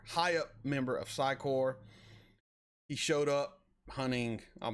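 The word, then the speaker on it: Psi Corps: I used to say Psycorps, but the PS is silent. I finally learned that.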